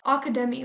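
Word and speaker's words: Akademi: characters go to is called academi like the Japanese pronunciation for Academy so they go to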